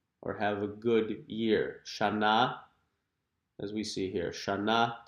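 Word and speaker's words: שנה: Shana. During the Jewish New Year, you'll hear people greeting each other. Shana Tova means Happy New Year. or have a good year. Shana, as we see here, Shana Tova.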